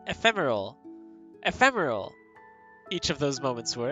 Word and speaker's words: ephemeral: So I would try to pronounce ephemeral with the ethereal vibe, so I was like ephemeral, but there's no E. It's ephemeral. There's no real or whatever, like ethereal.